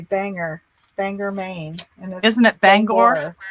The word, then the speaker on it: Bangor: But It's I called heard Bangor. They called it Banger.